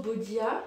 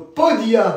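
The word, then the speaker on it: podía: très bien je bien je sais pas pourquoi tu as prononcé Bodia j'écris mal mais ça c'est un P quand même c'est le d après qui m' mais B ils sont ils sont différents ça c'est un B vois ça c'est un P fait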